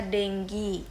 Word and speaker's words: dengue: Nah, tulisannya dengue, bacanya dengue.